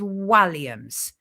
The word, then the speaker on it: Walliams: to him as Walliams, including myself, but it's Walliams.